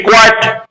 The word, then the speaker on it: quiet: Remember, this word will rhyme with diet. Are you on a diet? If you are on a diet, you can clearly understand how to pronounce the word diet, D-I-E-T. In the same way, you have to pronounce the word Q-U-I-E-T, quiet.